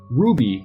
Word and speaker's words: RWBY: look into it and notice it is pronounced Ruby wrwby are actually the initials of the main characters and it'll make more